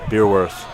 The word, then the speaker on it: Beerworth: Beerworth. I said if anyone's like parent or friends is listening to type of pronunciation for me. But apparently I was saying it right the whole time.